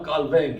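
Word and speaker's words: Calvin: 그분의 그 남기신 기독교 강요 같은 것을 읽어보면 머리가 비상하고 불란서 태생인데요. 그래서 ዣ 칼뱅 이렇게 발음해야 될 거예요.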